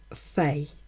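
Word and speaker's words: feis: So it is, as I said, for the ancient Celts, one of 4 festivals, or Fey, F-E-I-S, Fey festivals, and it's spelled F-E-I-S, seasonal festivals, and references can be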